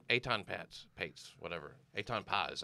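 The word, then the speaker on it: Etan Patz: Eitan Paz, I think is how you pronounce it.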